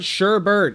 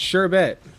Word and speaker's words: sherbet: te for pronounce sherbet it's not Sherbert it's sherbet sure BT sure BT